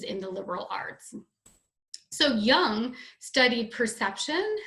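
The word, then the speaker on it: Jung: Young it looks car the J is pronounced y so it's Carl Young and you might learn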